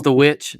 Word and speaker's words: The VVITCH: Spell it with yeah, it's The Witch. But when we put out the promo, it's going to be the double V, just because we can't mock the man's work.